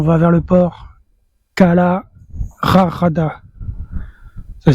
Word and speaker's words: Rajada: Kala rarada, ça s'écrit rajada mais je pense qu'on prononce rarada.